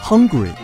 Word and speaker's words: Hungary: 匈牙利英文叫 Hungary，由于和英文的饥饿发音相似，经常被